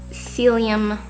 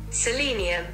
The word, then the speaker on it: selenium: like supplements i do celium cellium that is so not how you pronounce it selenium selenium and then i also